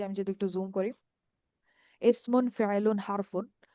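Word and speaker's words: اسم: যদি একটু জুম করি, ইসমুন ফেআলুন হারফুন। তো আপনারা সম্ভবত জানেন যে আমরা যখন আরবিতে কোন একটা শব্দ বলি এবং বলার পর থেমে যাই, তখন শেষের যে হরকতটা, সেটা আমরা উচ্চারণ করি না, যার কারণে এগুলাকে আমরা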